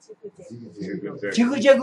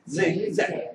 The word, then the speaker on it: zigzag: 자, 지그재그가 실은 정확하면 zigzag이에요. 자, 왜냐하면 아까 지그 초성 발음 확실하게 한 것도 아닌데 지그 하면 이음절이에요. 걔네들도 이음절로 듣게 돼 있다고요. 근데 실제 발음은 초성인 것처럼 짧게 발음합니다. zigzag, zigzag, zigzag. 근데 잭잭은 아니다 이 말이에요.